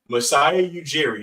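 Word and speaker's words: Masai Ujiri: where do the Raptors go from here so misiah eugi is that how it's pronounced yep turned OG anobi and Pascal seak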